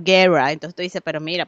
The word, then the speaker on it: Guerra: palabra en español y no pronuncio la R como la pronuncio como los gringos, Guerra.